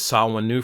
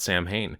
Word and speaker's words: Samhain: Is saw new for you? Did you always call it Sam Hayne?